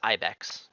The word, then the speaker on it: Ibex: I said Ibex, it's Ibex. It's pronounced Ibex. Gotta get used to that.